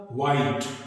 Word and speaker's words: white: बहुत common example है इसका व्हाइट, WHITE, हम इसको व्हाइट नहीं बोलते हैं, व्हाइट इसका प्रोनाउंसिएशन नहीं है, इसका सही प्रोनाउंसिएशन क्या है? व्हाइट। तो यहां पर H साइलेंट है।